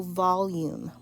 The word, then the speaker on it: volume: the concept of volume volume has two syllables vol um so that final e is silent when you have this